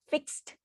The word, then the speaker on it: fixed: I tell them to pronounce fixed mindset and they say fix mindset no no fixed fixed you say you can you hear so they enjoy doing